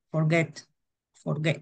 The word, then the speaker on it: forget: es de dos pero dónde tiene la fuerza de voz al inicio o al final forget en la get en el get cuando estaba al final